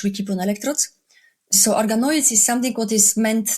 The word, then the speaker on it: organoids: Can you explain Can you correct my pronunciation and explain what those are? No, perfect. So, organoids is actually a technical term how we call